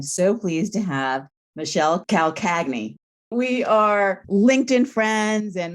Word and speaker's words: Calcagni: It's Calcagni. So it's a Southern Italian name and very, very hard to pronounce.